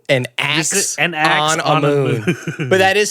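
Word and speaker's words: Anck-su-namun: An axe on a moon.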